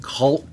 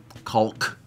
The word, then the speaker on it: caulk: says oh that's why the l is silent in in caul because